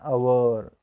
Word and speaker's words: hour: in less than an hour so hour is a word how to pronunciation this word our here H was silent so we can use